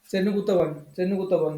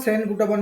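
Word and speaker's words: செங்குட்டுவன்: कौन लिखाई देखरे उथियल चेरल तापर लिखाई चेन्नुगुतम चेन्नुगुतवन होला कि लोकमान को चेन्नुगुतवन और सेन गुटवन भी लोकमान कहते सेन गुटवन जाने बहुत बड़ा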